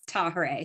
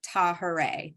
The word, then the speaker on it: Tahirih: remember how to pronounce tahere so if you say hooray and then put a Taw at the beginning of it tahere that's how the name